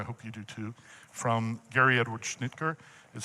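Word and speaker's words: Gary Edward Schnittjer: I I found this quote helpful and I hope you do too from Gary Edward Schnitker is how it's pronounced uh who's a brilliant scholar on on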